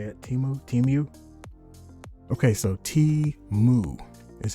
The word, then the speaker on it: Temu: Temu. Okay, so Temu is how you pronounce this company's name.